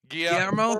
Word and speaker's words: Guillermo: And then it's the exact same thing with, hold up, somebody told me how to pronounce his name. It's Guillermo. Fudge. Guillermo.